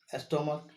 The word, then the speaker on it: stomach: Stomach, stomach, stomach ends with ch. That is why the plural will be formed by adding only s. Why? Because the pronunciation of the ch is ka.